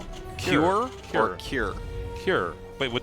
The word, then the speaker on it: Cure: it's not Q-er. Q-er, herder, Q-er. No, tasteless. Cure? Cure. That's it. That's how you say it.